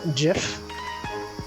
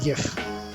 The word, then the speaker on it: GIF: guy who invented the gif he says it's pronounced jif but i refuse it's gif it's giff i implemented fizzbuzz before learning about string yes